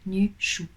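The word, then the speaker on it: Nüshu: Les deux points, espace, S, H, U, Nushu.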